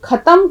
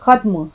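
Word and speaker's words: ख़त्म: देखिए खत्म बोलिएगा इसको खत्म कोई लफ्ज नहीं होता है खत्म ख का उच्चारण बिल्कुल ठीक होना चाहिए अच्छा मैंने जहाज के व्यापार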